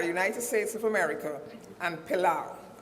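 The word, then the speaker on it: Palau: two countries are United States of America and pilau it's spelled p capital p-a-l-a-u p-a-l-a-u so it's United States and the country by the name of pilau they have signed but not ratified the convention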